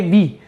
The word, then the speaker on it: Vi: Vodafone idea ने हमारे पास नया लोगो, ठीक है, new integrated brand identity launch किया है, जिसको हम प्रोनाउंस करेंगे वी।